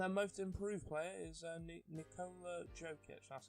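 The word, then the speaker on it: Nikola Jokić: And then most improved player is Nikola Jokic. That's how you pronounce it.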